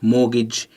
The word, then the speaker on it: mortgage: you always remember that even though it's pronounced mortgage it's spelt morte gage okay thank you